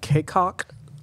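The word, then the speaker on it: Cacok: Anthony Davis, Devontae Kaycock, I think that's how you pronounce it.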